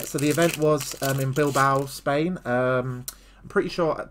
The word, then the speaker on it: Bilbao: I'm pretty sure people keep telling me I pronounce it wrong. I'm pretty sure it's Bilbao. Because I don't think you pronounce the A. Definitely not Bilbao. I think it's Bilbo.